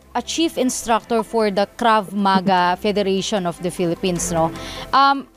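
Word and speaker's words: Krav Maga: natin when we study crab maga Am I pronouncing it right Is it crab maga o crav maga mabis Sabi ko na e mabilis Oo crav maga tama Opo sir Ano po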